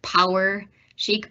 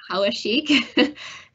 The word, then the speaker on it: Poweshiek: you know poik a lot of folks um pronounce it power shik but it is Pik and Pik is actually a county in Iowa